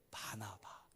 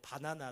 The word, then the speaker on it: 바나바: 바나바. 발음을 잘해야 돼. 바나나 되면 안 됩니다.